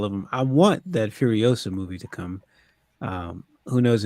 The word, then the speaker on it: Furiosa: You mean Furia? Furia? You said Oh, is that Furiosa.